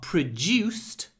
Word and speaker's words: produced: the pancreas enzymes are produced in the pancreas and here you can hear how my du is pronounced like J produced it's like I'm saying juice produced produced in the